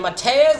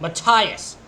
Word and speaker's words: Matthias: Matthias. I was close. I said Mateus. It was Matthias.